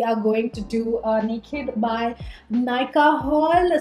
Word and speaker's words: Nykd: So in today's video, you read the title already, we are going to do a Naked by Nykaa haul. So it's spelled N-Y-K-D, but I'm supposing it's pronounced naked.